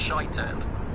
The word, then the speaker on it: Shaitan: guy that told me it's not pronounced Satan, it's pronounced Shaitan.